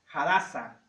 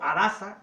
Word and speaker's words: Hadasa: El nombre hebreo de Esther era Hadasa o Adasa, de acuerdo a la